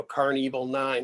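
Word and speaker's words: Karn Evil 9: interested in in uh and licensing you know car and evil 9 it's spelled k-a-r-n evil 9.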